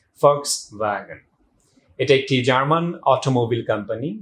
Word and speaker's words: Volkswagen: আমি নিজেও হয়তো বা একসময় Volkswagen বলতাম, দো ইট is start with sound, কিন্তু প্রোনাউন্সিয়েশনের সময় আপনাকে অবশ্যই সাউন্ড দিয়ে বলতে হবে Volkswagen।